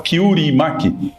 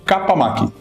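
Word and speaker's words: 河童巻: É a mesma razão pela qual não se fala kiimak, que seria o enrolado de pepino. O kurim é chamado de capamak.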